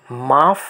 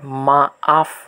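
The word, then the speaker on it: maaf: এই যে মাফ শব্দটাতে যে দুইটা এ পরপর বসেছে এজন্য এর উচ্চারণটা মাফ না হয়ে মা আফ হিসেবে উচ্চারিত হবে।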